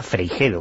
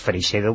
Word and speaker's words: Freixedo: Ángel Bastida Ángel Bastida freijedo que esto no se dice nunca que es su segundo apellido está castellanizado es Freixedo y era sobrino de Salvador